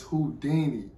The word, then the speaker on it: Houdini: I know the last ending is Dini. I'm like, how do you say that? So it's Houdini.